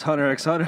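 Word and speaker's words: Hunter × Hunter: times and I just cuz you're saying it wrong it's Hunter x Hunter Hunter x Hunter God damn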